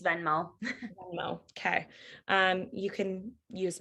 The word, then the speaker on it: Venmo: sorry, it's Venmo.